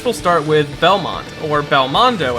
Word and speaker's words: Belmondo: start with Belmont or Belle mondo as it's originally pronounced in Japanese which is a direct